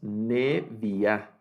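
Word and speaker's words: נביאה: Y aquí vuelve a ocurrir un cambio en la vocalización, ¿verdad? Y entonces leemos Neviá para profetiza.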